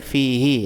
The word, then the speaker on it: fihi: Kata ganti pertama untuk laki-laki kalau sebelumnya ada huruf mad. Jadi fihi misalkan fihi itu kan ada huruf madnya. Jadi dia membacanya fihi.